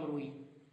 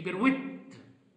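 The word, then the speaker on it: bruit: وعلى فكره في عندك تي ما بتتنطقش دي سايلنت. اوعى فلاحين في الامتحان تقول لي في بروت، مفيش تي دي خالص. بروي ده فرنساوي ماشي.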